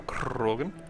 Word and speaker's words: Krogan: You gotta also roll your R's when you say that. You gotta go Krogan.